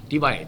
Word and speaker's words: Tibai: Kalau saya sebut cintailah individu bernama Anwar Ibrahim, dia bermula dengan C. Bunyi dia dah lain. C-I-B-A-I.